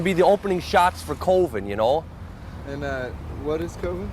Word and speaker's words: Coven: finish Borchardt's short film Coven, pronounced Coven in the movie.